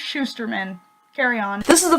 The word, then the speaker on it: Shusterman: It's pronounced Shusterman.